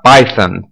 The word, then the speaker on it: Python: costuma falar Python tá se você for pegar o pé da letra aqui né do inglês tem esse th aqui então a gente teria que pronunciar Python né para pronunciar corretamente mas para a gente não ser e enfim pra gente poder se entender melhor tipicamente no Brasil a gente fala isso Python mesmo então ok essa essa